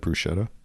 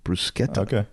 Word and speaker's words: bruschetta: Isn't it bruschetta? Oh, see one example CNN gave was that pronouncing brusqueta as bruschetta, not brusqueta, might cost Italians. It's actually brusqueta.